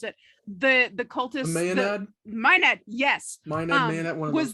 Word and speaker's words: Maenad: Bertuzza knows how to pronounce it, but I only read the word, so I don't know how to pronounce it. The cultist, Maenad? Maenad, yes.